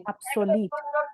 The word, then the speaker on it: obsolete: Okay, देखो pronunciation it varies from area to area, from reason to reason, but जो correct है इसका एब्सोलीट. एब्सोलीट, क्योंकि जो एंड में इसका वर्ड है SOLETE, सोलीट. ठीक है, एब्सोलीट.